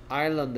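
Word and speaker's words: island: 얘 소리 안 납니다. 얘 무금이라 해요. 그리고 무금 S가. 그럼 얘 어떻게 읽어야 된단 말이야? 아일랜드, 아일랜드, 아일랜드. 얘를 만약에 아이슬란드라고 읽으면 외국인들은 아마 이걸 생각할 겁니다. 됐습니까? 아일랜드라고 읽어야 돼요.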